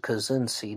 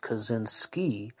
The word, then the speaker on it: Kaczynski: may have heard that i said ted kazenzi not ted kazinsky and it's spelled from